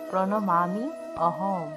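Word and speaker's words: প্রণমাম্যহং: উচ্চারণ হবে হের ওয়াম তারপর দেখুন প্রণমা মিয়াহম এখানে দেখুন জফল আছে আর জফল এর শুদ্ধ সংস্কৃত উচ্চারণ ইয় যেহেতু দুইজনে মজ যে ফলা আছে তার শুদ্ধ সংস্কৃত উচ্চারণ হবে মি অমি তাহলে এই পুরো উচ্চারণটিকে ভাঙলে দাঁড়ায় প্রণামি প্রণমামি অহম এই পুরো উচ্চারণটিকে ভাঙলে দাঁড়ায় প্রণমামি অহং তা শিক্ষার্থীরা এতক্ষণ আমরা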